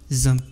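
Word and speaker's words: XAMPP: ce logiciel se nomme zamp il existe plusieurs logiciels qui permettent de sur Milie un serveur local mais moi je préfère que vous utilisez zamp donc vous allez rechercher zamp zamp s'écrit X MPP donc on va cliquer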